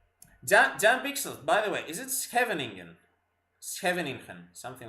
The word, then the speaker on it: Scheveningen: Oh, don't do the hard G at the end. The NG is just the NG sound. Ooh, I didn't know that. Oh, she's Scheveningen. Scheveningen.